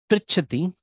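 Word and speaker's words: पृच्छति: So another thing about ru pronunciation, it is neither re nor ru. It is r, somewhere in between.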